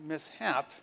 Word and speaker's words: mishap: about pronunciation spelling so when i look at the s h and mishap i realize it's not sh like it's a prefix and a base word okay so i know how to pronounce that okay and i can